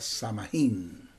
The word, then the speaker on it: Samhain: Ellos celebraban un ritual llamado Samhain. También se puede pronunciar Samhain.